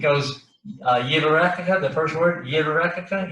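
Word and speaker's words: יברכך: So like in the priestly blessing, it goes Yivarekaka, the first word, Yivarekaka. You hear the Yud in there, the first syllable, Yivarekaka.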